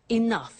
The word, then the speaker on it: enough: doesn't have enough money now this word enough enough it's written e n 0 u ji h the pronunciation is enough what does it mean let